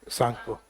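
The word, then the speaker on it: Tsangpo: तो टी को काउंट नहीं करके यानी साइलेंट है ये। वैसे ही ये टी सांगपो नहीं होके क्या है? सांगपो।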